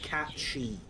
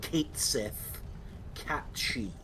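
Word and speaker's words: Cait Sith: And then we have catchy stand which is pronounced catchy. Not kith katchi.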